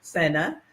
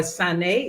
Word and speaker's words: Sane: Sena, or Sane, it's pronounced in Gambian, and I help people get to rid themselves of the degenerative diseases that I have mentioned in the past.